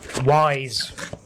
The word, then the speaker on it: Ys: So yeah, this is back to its roots, Ys, or Wise. I'm going to call it Wise because I know that upsets everyone. It's not called Wise, it's called Ys, like fleece. It's called Wise.